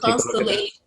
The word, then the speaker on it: constellation: A little Yeah, the schwa is just a little scrap vowel or a mini vowel that is used as a filler for the unstressed syllable because it's not constellation, right? It's not a full vowel.